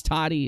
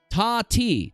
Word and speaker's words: Tati: right then is it how am i saying it wrong again td it's toddy it's let me see where is where is it spelled at tati tati okay tati hey